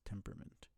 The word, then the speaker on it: temperament: Meryl's largest predator and the most feared for its ferocious temperament. I swear you pronounce it temperament, but there's an A there, so that's not temperament.